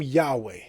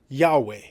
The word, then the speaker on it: Yahweh: He was saying that there's a popular theory that the name Yahweh, if you don't know this is what's called the Tetragrammaton.